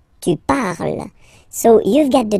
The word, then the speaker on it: parles: So you've got the two first forms, you pronounce them the same way. You write them differently, of course, because you get E here, and then you've got E and S, okay, but then phonetically they are the same.